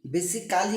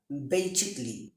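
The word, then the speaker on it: basically: এ এর পরে যদি ডাবল এল ওয়াই থাকে সেই ক্ষেত্রে এ উজ্জ্ব থাকে অথবা ই এ সাইলেন্ট থাকে। যেমন আমরা বলে থাকি অ্যাকচুয়ালি, বেসিক্যালি, বেসিক্যালি হবে না, বেসিকলি, বেসিকলি, বেসিকলি, বেসিকলি, অ্যাকচুয়ালি, commercially, এভাবে হবে।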